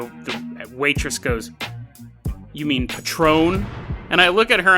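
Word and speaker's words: Patrón: menu and I go I'll have the the patron and and the the waitress goes you mean Patrone and I look at her and I go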